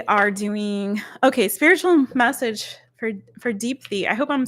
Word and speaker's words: Deepthi: DEEPTHI.